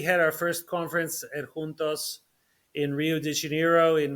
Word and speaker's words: juntos: Yes, I have been heavily involved in an organization called Juntos, of which I am a founding board member. Juntos means together in Spanish, Yeah. and if you pronounce it properly in Portuguese, juntos, it also means exactly the same thing, together.